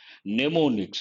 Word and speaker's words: mnemonics: that please use mnemonics the first m is silent mnemonics mnemonics means what memory